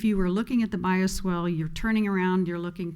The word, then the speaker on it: bioswale: Okay, that's the bioswale.